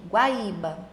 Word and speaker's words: Guaíba: Guaíba.